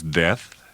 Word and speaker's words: Death: "Your name is Death?" "Pronounced Death, with a long E.